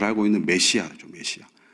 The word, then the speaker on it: 메시아: 우리가 잘 알고 있는 메시아죠, 메시아. 그래서 성경에는 메시야로 되어 있는데 한글 표기가 사실은 발음상 메시아가 더 맞습니다. 메시야보다.